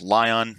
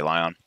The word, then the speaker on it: l10n: pull the script from I pronounce this lie on I think it's l10n I just say lie on we're gonna open that